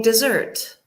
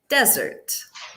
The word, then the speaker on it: desert: And E, they are all saying dessert. Desserts. No, they're all saying desert. Yeah, so difference in pronunciation.